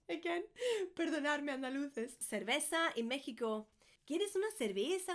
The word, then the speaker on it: cerveza: The V's and the B's in Spanish are always, everywhere, pronounced like a B.